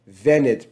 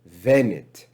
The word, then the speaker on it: venit: verse 7 is venit venit pronounced with a v venit if we look um